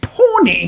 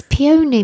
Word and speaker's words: peony: but luscious cherry and pony it's peony more you pronounce it peony oh peony oh you got that wrong it looks like Pony to me it does there's even